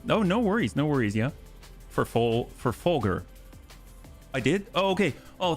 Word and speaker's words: Folgers: The American pronunciation of Folger's coffee is Folger.